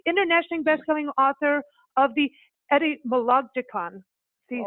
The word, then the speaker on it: Etymologicon: the show, an internationally best-selling author of the Etymologicon. See, say that 10 times on a happy hour show. I'm not even saying it right. Am I, Mark? That was pretty good. Etymologicon, yeah.